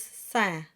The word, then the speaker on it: scintillement: The SC combination is just like science. It's just an S. So the first syllable is saint. Then you have T, the T-I combination, just like a cup of tea. Then the double L here is a Y sound, just like the Y in you.